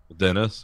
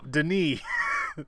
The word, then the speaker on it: Denis: Dennis or No, Denis.